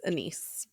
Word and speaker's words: anise: Anis or anise. It's anise or star anise.